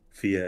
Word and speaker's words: Fiadh: Like Fia as in F as in Frank, or TH as in the.